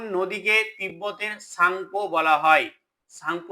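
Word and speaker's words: Tsangpo: তিব্বতের সাংপ বলা হয় সাংপ স্পেলিংটা দেখতো কিরকম তিটাকে বাদ দিয়ে উচ্চারণ করতে হবে তো কোন নদীকে তিব্বতের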